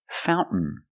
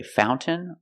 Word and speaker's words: fountain: what did we celebrate Fountain Fountain you can say fountain or Fountain both are fine and then I swim